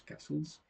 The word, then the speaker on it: castles: We have to write with letter T, but in this case we pronounce castles.